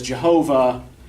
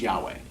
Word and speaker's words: Yahweh: version either right so the yahwist tends to use the four letter combination yhw H which used to be translated into english as jehovah now is believes to actually be correctly pronounced Yahweh the Ella West uses